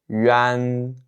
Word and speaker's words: yuan: La première, c'est yuan, yuan, yuan.